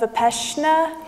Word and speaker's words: Vipassana: There are amazing stories about this with the Vipassana meditation. I pronounced it right?